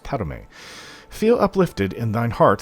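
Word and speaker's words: Padhome: many years it's spelt pad home but it's pronounced padme feel uplifted in thine heart that you have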